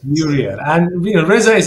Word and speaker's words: VueReal: by Resa from Vu I hope I'm pronouncing the name of the company right it's a v vew VI real yes VI real and you know resa